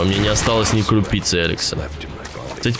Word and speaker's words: Elex: Во мне не осталось ни крупицы Эликса. Кстати, по идее говорится Иликс. Ну, то есть произносится.